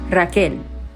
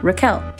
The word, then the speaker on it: Rachel: c h e l although it was always pronounced Rael or Raquel so Flash Forward I'm